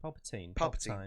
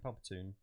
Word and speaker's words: Palpatine: How's it pronounced? Palpatine. Palpatine.